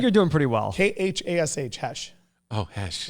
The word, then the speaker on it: Khash: K-H-A-S-H, Hesh. Oh, Hesh. It's pronounced Hesh, spelled That's Cash.